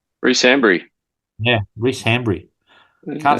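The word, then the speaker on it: Hanbury: My surname rhymes with a fruit. That's an interesting last clue. No guesses, boys. I would It It doesn't rhyme with orange cuz nothing rhymes with orange. It rhymes with cranberry.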